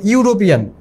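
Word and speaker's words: European: কারণ হচ্ছে এখানে ইউ এর মতো উচ্চারণ হয়েছে, ইউরোপিয়ান।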